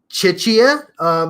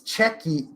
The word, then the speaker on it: Czechia: Middle East Thank You chicha no it's uh check its checky checky yeah it's spelled and